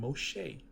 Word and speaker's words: Moshe: We got another name, Moshe. Moshe is pronounced Eh. So that's possible. It's not always Ah at the end. It can be Eh.